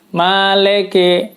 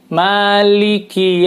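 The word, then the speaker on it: مالك: apa yang biasa dibaca bukan Maliki kadang-kadang maleke maleke jadi like bukan Liki padahal ini menggunakan harokat kasroh Lili dan Kiki lam dan khasnya nih menggunakan huruf menggunakan harokat kasroh jadi Maliki Yuh yah yang kedua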